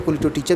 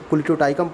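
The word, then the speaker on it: Colletotrichum: का होता है, यानी कोलिटोटाइकम कैप्सेसी, ठीक है, कोलिटोटिचम जिसको हिंदी में कहा जाता है, और इंग्लिश में कोलिटोटाइकम प्रोनाउंसिएशन होता है।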